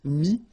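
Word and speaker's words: mis: Mi, same advice here, don't pronounce the final S like we had here. T is not pronounced, S is not pronounced. Mi, mettre, to put, and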